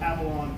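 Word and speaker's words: Afallon: And then I got this job in 2014 with this company that's called Avalon Productions, which is spelled A-F-A-L-L-O-N, so it looks like A Fallon or Avalon or something else.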